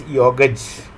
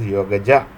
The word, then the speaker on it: Yogaja: So given this Yoga Sutra, there is a stage in yoga called as Yogaj, or when people pronounce it in English, I also hate people calling it as Yogaja. They put an A.